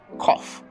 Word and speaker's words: cough: Next one, if you're not a native speaker, you might think this is cow, as in count, or coup, as in coop, but no, it's pronounced as cough.